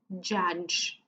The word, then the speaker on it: judge: first one is the judge which might seem complex as pronunciation but it really has three sounds the sound Jim the sound ah and then one more time the sound jiù jiù jiù judge then we have a